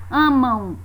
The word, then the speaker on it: amam: Mesma coisa acontece com a palavra amam. É como se no final da palavra tivesse a semivogal U.